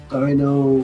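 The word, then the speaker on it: Deino: I always thought it was pronounced Dino. There's like several different pronunciations. But yeah, it's Dino.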